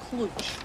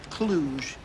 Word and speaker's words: Cluj: a footballer playing for cfr clutch uh i believe that's pronounced cluj thank you frasier it's